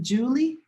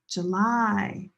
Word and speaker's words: July: Is it Julie? Julie is my friend's name. It's not Julie. The stress is here. July. Very different from Julie, right?